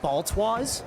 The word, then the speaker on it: Baltwaz: Um cuz it is actually just Baltwis like you just you literally just pronounce everything.